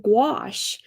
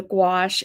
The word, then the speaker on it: gouache: playing around with some gouache. Are y'all familiar with what gouache is? It sounds like squash, but it's with a G and it's spelled nowhere near squash the way squash is spelled.